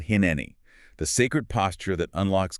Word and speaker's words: hineni: And the antidote to that is all wrapped up in this one single ancient Hebrew word, hine. Pronounced hineni.